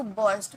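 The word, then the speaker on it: burst: Art silent होता है। ठीक है? टू बस्ट। बस्ट नहीं बोलेंगे।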